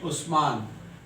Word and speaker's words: Usman: USMAN, उस्मान। तो यानी कि यू जो है उस का भी साउंड देता है, उस।